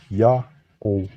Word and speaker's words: Ya'oh: text like this one the first leap is read as ya the next glyph is a vowel placeholder only treated as silent and the terminal w is a matter o vowel thus it's read as ya o now another language in